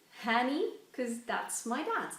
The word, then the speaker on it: Hanny: a bit actually um it's honey pronounced like honey I should know I've been hearing it all my life but it doesn't have that same meaning in that anyway so not so much like honey Hanny cuz that's my dad's